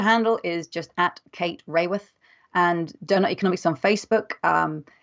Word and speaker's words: Raworth: And Raworth is spelled R-A-W-O-R-T-H. So it looks like Kate Raworth, but it's one of those funny English names where we stick a Y in it when we say it.